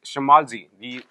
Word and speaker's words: shmaltzy: It's Shmalzy. The pronunciation of this word is quite different, and